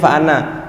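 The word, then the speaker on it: فأنا: Nah kemudian fa'ana, qul in kana lirrahmani waladun fa'ana awwalul abidin. Fa'ana tulisannya panjang dibaca pendek. Fa'ana, jadi tidak boleh waladun fa'ana awwalul abidin.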